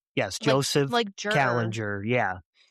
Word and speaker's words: Kallinger: Um Callinger, right? Did I pronounce it right? Yes. Joseph Kallinger.